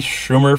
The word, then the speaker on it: Schumer: it just because I'm not the biggest Amy Schumer fan that's how you pronounce it I I like her show inside